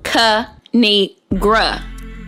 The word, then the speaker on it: Kinigra: me tell y'all a thing of three it's pronounced cu need gra now subscribe oh i crack myself up thanks